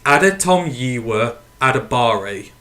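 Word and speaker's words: Adetomiwa Adebawore: talking about Northwestern d-linemen so that how you pronounce his name it's Adam yiwa adabari so I'm going to stay at a bar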